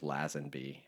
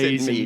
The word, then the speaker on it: Lazenby: And I said George Lazenby, and my English friend It's corrected Lazenby. me. Gavin corrected me that it's Lazenby.